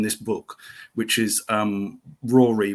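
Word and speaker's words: Ruaridh: book which is um Rory which is I think that's how it's spelled it's r u a r i d h arrow and his book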